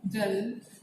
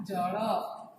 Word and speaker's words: जल: उसी तरह से जल देख लीजिए, शब्द है जल, हिंदी उच्चारण जल, उड़िया उच्चारण क्या होगा? जड़।